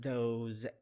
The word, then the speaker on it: those: The S in these words pronounced as Z sound. Those, these.